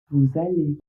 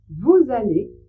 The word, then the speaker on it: vous allez: Vous allez vous allez même chose il commence aussi par un a, une voyelle. Donc là aussi, vous devez faire la liaison et prononcer le S comme un Z.